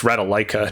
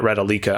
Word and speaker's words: Ratalaika: played act the last ratalika game i played by the way i'm pretty sure it's ratalaika not ratalica i don't know why it's pronounced ratalika by some people oh you know what